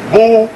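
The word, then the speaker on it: Boulé: to the Boule picnic known as Bole pronounced Bole the group is here see ble ble b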